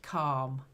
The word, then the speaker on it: calm: intensely good and calm it's like an R rather than an L the L is silent calm Cal that's it much